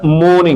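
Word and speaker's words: morning: আলি ইন দা মর্নিং। মর্নিং আরটা উচ্চারণ হবে না।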